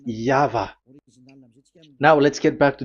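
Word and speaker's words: Yahweh: The original one is V and there is no more explanation but that is the phonms the pronunciation pronunciation is equal V. It is V. Y H VH. So it is Yava.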